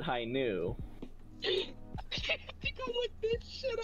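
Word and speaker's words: Hi-ν: The V is the Greek letter nu. So they pronounce it high nu.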